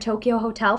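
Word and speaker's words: Tokio Hotel: my friend was super obsessed with the band Tokyo Hotel from Germany uh it's spelled t o k i o hotel and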